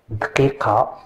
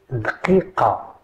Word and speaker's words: دقيقة: واحد دقيقة. Can you repeat with me? دقيقة دقيقة دقيقة.